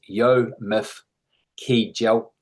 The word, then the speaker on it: Yomif Kejelcha: For anyone wondering how to pronounce his name, a useful approximation is Yomif Kejelcha.